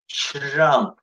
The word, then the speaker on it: Trump: Trump, чи-жи-а-мы-пы, Trump. Т перед ре, ре перед т, после т, чтобы ре не зарычало, англоязычные смазывают его, вот почти все. Буква ч, Trump.